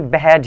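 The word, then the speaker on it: behead: बेहेड बेहेड बेहेड ऐसे करके प्रोनाउंस करा जाता है, आप गूगल पे सर्च कर अच्छी प्रोनाउंसिएशन देख सकते हैं। जैसे बेहेड बेहेड, जैसे बिहाइंड होता है ना तो उसको बिहाइंड पढ़ते हैं, बिहेड है ये उसको बेहेड पढ़ते हैं, इस तरीके से।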